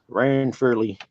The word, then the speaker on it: Ranfurly: Ranfurly. RAN. RAN. Ranfurly. Like you ran and then Furley.